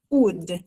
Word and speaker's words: would: Porque no inglês falado ele a gente não escuta esse ud, apesar de ter esse monte de letra, a pronúncia é só esse U com esse d. a gente fala ele curtinho, seco, curto e seco.